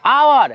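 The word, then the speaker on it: hour: क्या क रहा है आवर कह रहा है एच ओ यू आर लिखा हुआ है एच से स्टार्ट है लेटर है कंसोनेंट वाला लेकिन इसका उच्चारण जो है ना साउंड है वो है भोल वाला इसलिए यहां पे एन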